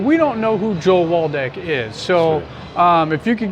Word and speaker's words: Waldeck: So this is going to be our first episode, and we are with Joel Waldeck.